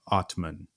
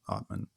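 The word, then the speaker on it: atman: is the idea of what's called the otman the a t m an is how it's spelled otman the otman in the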